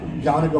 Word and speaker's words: Janega: of Slovaks who are called YAN-uh-guh. You know what's interesting is in Polish speakers, or Polish families, Polish immigrant families in the United States have no problem with Janega because they see it. We spell it Janega. YAN-uh-guh or Janega, it's spelled the same way.